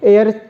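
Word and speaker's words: heir: बच्चे क्या हो गए, एयर हो गए, वारिस हो गए, ठीक है। तो चलिए, एयर में भी एच साइलेंट होता है, इसे एयर, हवा नहीं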